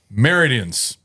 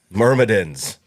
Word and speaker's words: Myrmidons: Meridians. Spin. Then how do you say it? Myrmidons. Not meridians. Myrmidons? There's a second M there.